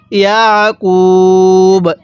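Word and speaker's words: يعقوب: দেখুন, আইনটা পড়ার সময় গলার মধ্যে হালকা চাপ দিয়ে পড়লে আইনটা সহি শুদ্ধ উচ্চারণ হবে। তাহলে কিভাবে পড়তে হবে? ইয়াকুব, এরকমভাবে শিখতে হবে।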